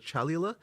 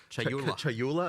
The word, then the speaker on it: Chayula: So the acolyte of, I always get this name wrong. The acolyte of is it Chalula? Chayula. I always say this wrong.